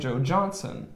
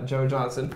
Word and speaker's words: Joe Johnston: But there is a director named Joe Johnson. It's spelled Joe Johnston, which I always pronounced Joe Johnson.